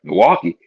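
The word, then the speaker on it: Milwaukie: here I was like Milwaukee but it's in the state of Oregon it's a city called Milwaukee not spelled the same way but anyway so getting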